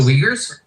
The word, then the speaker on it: Uyghur: Also, what's with the English pronunciation of the name of that Chinese minority? The Uyghurs?